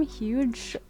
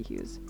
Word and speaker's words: Hughes: I think that's how you say his name. Huge, or no, it has to be Hughes.